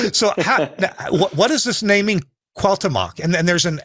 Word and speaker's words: Cuauhtémoc: So what is this naming Cuauhtémoc, and then there's an accent or accent over the e. Yeah, it's an Cuauhtémoc. accent on the E.